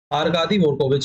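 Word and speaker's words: Аркадий Дворкович: डी वरको विच है D silent रहता है वो आर कादी रविच head deputy head कौन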